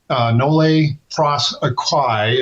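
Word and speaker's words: nolle prosequi: There's been this history of according to black law dictionary nle nle pro aquai I believe is the way it's properly pronounc pronounced uh frequently shortened to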